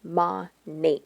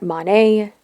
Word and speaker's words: MONAT: two words modern and nature and it is pronounced ma Nate contrary to the many mispronunciations by its Distributors on social media it is not Monet Monet Minot monat or monate they are headquartered in Doral Florida which is